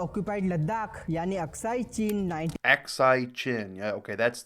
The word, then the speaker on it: Aksai Chin: Independence, partition और first India Pakistan Kashmir war के बाद से ही, जबकि ऑक्यूपाइड लद्दाख यानी अक्साई चीन Aksai Chin. Yeah, okay, that's how you pronounce it.